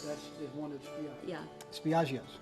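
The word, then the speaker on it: Spiaggia: Spiaggio's, correct?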